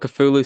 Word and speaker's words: Cthulhu: You guys will see in the shorts. It's two syllables.